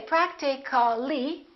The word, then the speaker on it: practically: more words like that practical practical we don't say practically we drop the A and we say practically